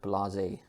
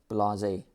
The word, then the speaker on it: blasé: Okay, this word here is, I think it's French, but you know, I think we've stolen it from French, and we pronounce it blasé. So blasé.